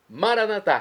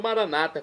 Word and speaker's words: Maranatá: Maranatá, como dizemos nós católicos, ou maranata, como dizem nossos irmãos separados, os evangélicos ou protestantes. Não importa a pronúncia, o significado é o mesmo.